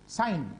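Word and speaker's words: sine: আমি জানি অনেকে সিন বলে উচ্চারণ করে, উচ্চারণ হবে সাইন, মানে অনেক স্টুডেন্ট ওরা তাড়াহুড়ার মধ্যে সিন করে। অ্যাকচুয়ালি বানানটা এস আই এন ই, সাইন, তো আমরা সংক্ষেপে এটা লিখি না, সাইন লিখি, এ সাইন।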